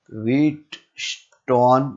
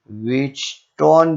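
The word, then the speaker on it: Wheatstone: क्या बोला जाता है, व्हीटस्टोन ब्रिज, ठीक है। ये टी साइलेंट है, व्हीटस्टोन ब्रिज भी हम बोल सकते हैं।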